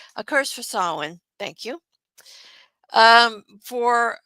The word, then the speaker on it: Samhain: I gave A Curse for sorry, I keep wanting to pronounce that wrong. A Curse for Samhain.